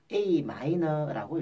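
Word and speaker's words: Am: A 다음에 M자가 붙어 있는데, 이 M자는 소문자로 되어 있을 경우에는 마이너라고 읽고, 대문자가 M이 있으면 메이저라고 읽게 됩니다. 이걸 A, M이라고 읽으시면 안 되고, A 마이너라고 읽습니다.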